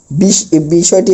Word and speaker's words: বিষয়: বলতে গেলে তা না, মানে অন্ত এর আগে যদি অ অথবা আকার থাকে তাহলে অ এর উচ্চারণ বিলুপ্ত হবে, অর্থাৎ অ এর উচ্চারণ হবে না। বিষয়টি একটু বুঝাই।